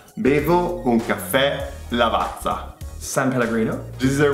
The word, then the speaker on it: Lavazza: Lavazza? Are you serious? Okay, no, our most popular Italian coffee brand is Lavazza. Lavazza. Lavazza. Bevo un caffè Lavazza.